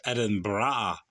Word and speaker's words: Edinburgh: the proper pronunciation is edin bra I think Edinburgh Edinburgh I think the some people just roll the bra part and make it burrow the library of edinb